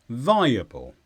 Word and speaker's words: viable: it's an adjective and the stress is on thy viable the main meaning we know